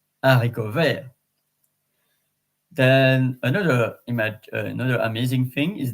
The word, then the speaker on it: haricot vert: And then in terms of accents and pronunciation, in French, we don't pronounce the H. So in English, you could say helicopter, but in French, hélicoptère. So it's the same with haricot vert.